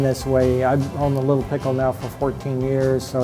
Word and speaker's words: Lil' Pickle: Mesa is oldest sandwich shop the way we pronounce it here is a little pickle without the TT little little pickle which is kind of splitting hairs but little pickle the original owners Jim and Ted decided to